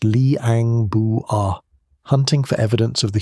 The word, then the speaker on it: Liang Bua: In 2003, an Australian and Indonesian team went into a cave called Liang Bua, pronounced Lee-ang Boo-ah, hunting for evidence of the human migration to Australia.